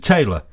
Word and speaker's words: Tayleur: It's spelt Tayleur. Is it pronounced? I've been pronounced it Taylor. That's how I believe it's meant to be pronounced. It's named after the chap who actually was running the foundry when it was built in Warrington. It looks like it should be French. It should, yes.